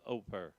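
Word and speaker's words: Ophir: all the gold of oper. Don't be lazy. You will waste your advantage. And the reason I put the gold of oper is spelled op hir.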